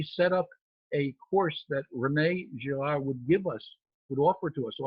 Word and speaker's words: René Girard: And Girard, René, it's interesting because when I speak with audiences, sometimes they'll say René Girard to use the French pronunciation, and sometimes they'll say René Girard, which is how the English would pronounce it.